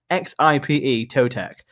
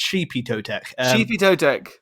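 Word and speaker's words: Xipe Totec: a mad name like it's spelled out x-ipe toe tech but which to be fair to you you kind of got it right it's sheepy toe tech shipping so matt uh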